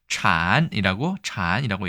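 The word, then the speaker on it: 谗: 발음은 찬이라고 얘기합니다.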